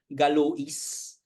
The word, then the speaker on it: Galois: and Ah si galw sometimes they some people pronounce it galois si galo gwa was galu was only like um 21 years